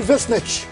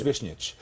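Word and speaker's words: Višnjić: Goran Visnjic.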